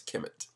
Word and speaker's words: Kemet: means the black land all of these names were originally spelled without vowels so for example kmt represents kimet the meaning of kimet